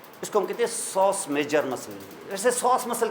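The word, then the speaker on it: psoas: है बड़ा important muscle इसको कहते हैं sauce muscle sauce P एस ओ एस पी के बाद वल नहीं है तो पी साइलेंट हो जाता है य अंग्रेजों का फंडा है अब जो उनकी मर्जी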